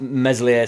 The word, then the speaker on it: Meslier: of uh talk about meselier silent s in general like we've